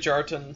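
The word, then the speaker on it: Kjartan: vine' essence pronunciation no it's good jarton it's like to jerk t'en Kjar 10 she's sweaty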